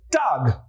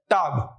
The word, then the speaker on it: Tag: Now day in German is called Tag.